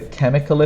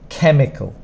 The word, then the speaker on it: chemical: for spelling and pronunciation chemical the problem here is this sound at the start usually this would be CH like in much or church but here it's a k sound it comes from the